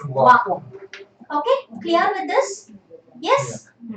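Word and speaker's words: は: Okay, so when used as a word, okay, you read it as ha, and when used as a particle, you read it as wa.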